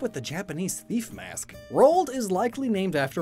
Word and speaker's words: Roald: reach both poles and it rhymes with cold which is where penguins live Robin Rocko is possibly